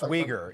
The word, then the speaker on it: Uyghur: Well, it is pronounced Uyghur. It does begin with a U, but it's pronounced Uyghur.